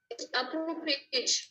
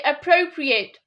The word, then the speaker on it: appropriate: It's appropriate. Ap- Say appropriate. Appro. Appropriate. Not approve. It's appro. Appropriate. Appropriate.